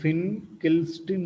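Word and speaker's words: Finkelstein: one is pin kill system reaction see the pronunciation this is the fin kill strin reaction in filkisten reaction alkylides are prepared and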